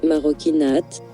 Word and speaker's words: Marocchinate: maroinate marokinate maroinate marokinate prononcé marokinate en italien pour les actes des